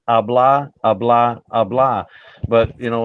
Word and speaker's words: habla: Habla, yeah. No, it's not habla. The H is silent. It's habla.